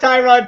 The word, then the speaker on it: Tyrod: After saying they wanted to start Tyrod Taylor, or Tyrod, as it's correctly pronounced.